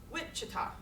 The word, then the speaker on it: Wichita: So where's Wichita? Wichita. First syllable.